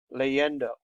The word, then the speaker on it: leyendo: We should know that the stress falls on the next to last syllables. Leyendo, on the E.